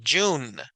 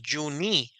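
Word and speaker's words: June: el mes del año la palabra jun pero vean que la e nunca la tocamos verdad no dijimos Yuni verdad ni yune sino es jun Entonces esta regla nos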